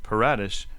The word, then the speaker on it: Paratus: patatus is latin and means to be ready or prepared while the american pronunciation paratus may sound a little different the underlying principle of